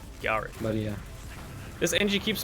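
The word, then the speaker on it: Garik: It's with like a softer R, Garrick.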